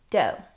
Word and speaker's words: dough: Some words that have the same spelling pattern and rhyme with though are dough.